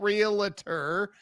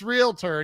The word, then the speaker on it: realtor: I I I'm like there's no vowel between the L and T why are you doing that it's not realtor it's realtor and you're saying it